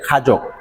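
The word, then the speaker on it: 가죽: আরেকটা বিষয় খেয়াল রাখেন, আমাদের একই রকম উচ্চারণ, খাজুক মানে প্রায় একই রকম, খাজুক এইরকম যদি উচ্চারণ হয়, বানানটা হয়, তাহলে অর্থ হবে চামড়া।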